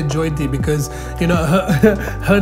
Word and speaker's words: Jyoti: the way you say joyti because you know her name is actually jyoti which is spelled j-y-o but you pronounce it as j-o-y and i really believe